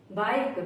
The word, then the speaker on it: bike: ई कब साइलेंट होगा? किसी वर्ड के लास्ट में अगर ई आए तो हमेशा साइलेंट रहता है। जैसे बाइक, BIKE, बाइक।